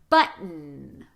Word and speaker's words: button: Stop the T, shorten the vowel, sustain the N. Button.